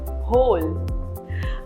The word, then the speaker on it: whole: W is silent in some words. For example, whom, whose, whole.